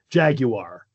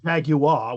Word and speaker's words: Jaguar: according to the company Jaguar. Brits would say Jaguar without the R ending.